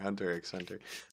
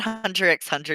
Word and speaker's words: Hunter x Hunter: say um just drop and takes out nowhere hunter x hunter okay um excuse you the x is silent no it's not i'm